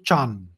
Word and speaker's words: dhyana: Now, dhyana meditation is a Sanskrit word, dhyan. The Chinese don't know how to pronounce dhyan, so they turned it into Chan.